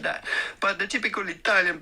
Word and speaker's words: Italia: Italian. How do Please. you go about pronouncing this? Italia. You do want to emphasize and accentuate the middle syllable, the ta syllable.